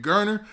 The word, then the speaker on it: Garner: i believe that's adrian garner but let me know if i'm if i'm wrong man and i think the last name was actually pronounced gainer now the next person